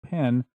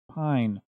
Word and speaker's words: Pijn: The problem is, I've been pronouncing their name wrong when I've said it every time before. Shocking, I know. So essentially, every time in the previous shows when you've heard me say pen, I meant pine.